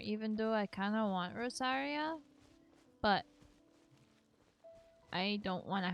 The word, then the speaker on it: Rosaria: Rosario? I thought it was Rosario, wasn't it? The new character, whatever her name is, I forget. She's called Rosaria in Genshin.